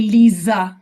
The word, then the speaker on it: Lisa: Funny enough, the pronunciation is different. We spell it with an S, Lisa, and we say Lisa as if it was with a Z.